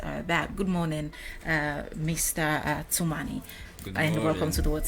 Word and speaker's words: Tumani: It's actually pronounced Tumani.